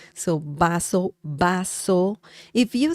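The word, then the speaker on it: vaso: bring un means a baso remember the V sound in Spanish is similar to the English sound b as in Bell so baso baso if you say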